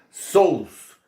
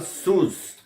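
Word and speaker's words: σῦς: Aí eu vou colocar também uma Bíblia minha em grego aí, grego moderno, onde está escrito sous. Esse é o grego moderno. No grego antigo se pronunciava sus.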